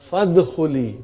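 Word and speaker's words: فادخلي: But it became fadkhuli. Why? Because Hamzatul Wasal. If something comes before it, it is written but not pronounced. So it became fadkhuli.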